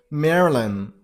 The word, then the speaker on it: Maryland: So Maryland.